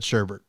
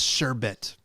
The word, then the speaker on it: sherbet: no she's saying okay my brother just said sherbert sherbert though oh it's sherbet and i can't believe it and i can't